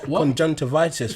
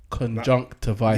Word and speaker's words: conjunctivitis: How'd you say it? Conjunctivitis. Yes, that's it.